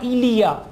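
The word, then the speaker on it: il y a: There, उसके लिए आएगा इलिया, इल, ई, वाई को प्रोनाउंस करेंगे ई, इल, ई, आ, इलिया, इलिया, इलिया, देयर इज, देयर आर।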